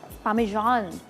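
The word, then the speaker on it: Parmesan: पामेजान इज़ the actual pronunciation.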